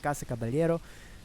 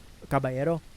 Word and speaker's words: Casa Caballero: Isidro worked for the church in the community culminating in the completion of Kasa Cababaliero Cababayero depending on how you want to pronounce it.